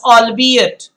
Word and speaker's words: albeit: Now this word, guys, is albeit. This is not queer, this is albeit. The meaning of albeit is though or although. Albeit is the way you will pronounce it.